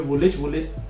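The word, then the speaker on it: Woolwich: जैसे एक जगह है यहाँ पे वुलिच, तो वैसे स्पेलिंग में उसके वुलविच आता है, लेकिन बोलते हैं उसको वुलिच ही है।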